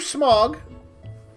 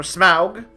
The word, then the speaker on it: Smaug: You know, it's your Smog. Or Smaug. However you want to pronounce it.